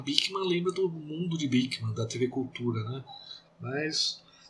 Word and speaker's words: Beeckman: A gente lembra, sempre quando fala em Bickman, lembra do mundo de Bickman, da TV Cultura, né? Mas provavelmente é Bickman mesmo a pronúncia, segundo o Google, pronunciando em holandês ou neerlandês, né, como seria o técnico da língua.